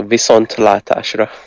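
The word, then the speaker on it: viszontlátásra: Almost good, but you like put the emphasis on the wrong thing. Latashra. Latashra. So Visont Latashra.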